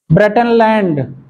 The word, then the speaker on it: Brundtland: ब्रेटनलैंड ये नाम है किसी का, इसको हिंदी नहीं बता सकते। BRUNDTLAND, ब्रेंडन, एक्चुअली में डी साइलेंट है इसका, ब्रेंटन लैंड भी कहा जाता है।